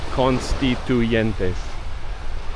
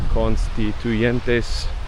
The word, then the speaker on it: Constituyentes: I know that's hard to say, but Constituyentes. That's the way it is pronounced. Constituyentes.